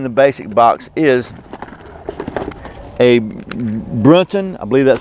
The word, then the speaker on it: Brunton: The second item in the basic box is a Brunton, I believe that's how you say it, Brunton TrueArc 3 base plate compass.